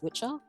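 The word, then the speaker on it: wicca: e for the feminine which is pronounced in Old English as Witcher and the meaning behind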